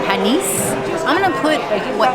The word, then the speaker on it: panisse: It's got S's at the end. Panisse.